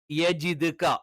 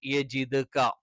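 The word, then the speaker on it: يجدك: യ നാവിന്റെ മദ്യം മേലെ അണ്ണാക്കിൽ ടച്ച് ചെയ്തുകൊണ്ടാണ്. നിങ്ങൾക്കറിയാം, നാവിന്റെ അറ്റം മേൽവരിയിലെ മുൻപല്ലുകളുടെ മോണയോട് ചേരുന്ന ഭാഗത്ത് ദായും തായും ഉച്ചരിക്കുമ്പോൾ നാവ് താഴ്ന്ന് തന്നെ കിടക്കണം. ക നാവിന്റെ തുടക്കം, ആരംഭം അതിന്റെ മുകളിലുള്ള അണ്ണാക്കിന്റെ ഉറപ്പുള്ള ഭാഗത്ത് ടച്ച് ചെയ്തുകൊണ്ടാണ് യജിദ്ക. യതീമൻ, യ അറിയാം, ത അറിയാം.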